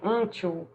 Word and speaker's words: until: Until, você quase não escuta o U, né? Aqui no Brasil a gente falaria until, mas lá eles fecham bastante. Então, until, vai depender muito do sotaque, tá?